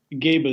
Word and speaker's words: Gebel: Gebel, yeah, like Clark Gable, can pronounce it the same way.